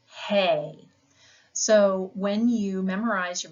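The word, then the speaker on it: ἡ: but just know that this Ada with the breathing Mark over it as we've learned is pronounced hey so when you memorize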